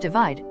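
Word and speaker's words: ÷: Sheeran's third album, pronounced Divide, was released in March 2017, and was the best-selling album worldwide of 2017.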